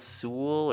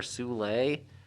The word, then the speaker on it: Soule: My first choice is a book called Curse Words by Charles Soule or Soule. It's spelled like soul with an E on the end.